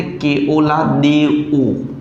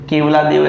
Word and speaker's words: केवलादेव: ये जैसे असली नाम है, आप इसको कर सकते हो गूगल, इसको बोलते केओलादेओ। वैसे केवलादेव ऐसा बोलते हैं उसको, देओ है